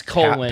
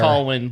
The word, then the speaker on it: Colwyn: Yeah, it's Colwyn, passing not, the not fire. Colwyn, by the way. I Oh, was is pronouncing it?